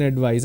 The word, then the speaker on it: advice: it's like an object please give me an advice I want to give you an advice so